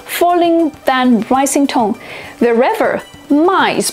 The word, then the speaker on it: 卖: Wherever 卖 is pronounced with a falling tone.